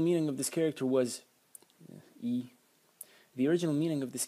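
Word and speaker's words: 衣: And the semantic element, using the magenta color to highlight now, this is pronounced yi, and it means clothes.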